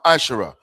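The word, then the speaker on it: ma'aser: Malachi 3:8-10, which means 10th in the Hebrew, and it's pronounced masher.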